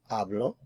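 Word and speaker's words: hablo: I have ablo, ablas, abl, ablamos, ablas, and ablan. Remember that the h is silent in abl.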